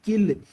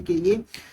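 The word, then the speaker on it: kiln: तो ये जो क्विक लाइम है इट is obtained by heating लिमस्टोन इन a rotary किल। Basically यहाँ पे एन साइलेंट होता है, ये एक भट्टी होती है, इसी को बोलते हैं हम किल।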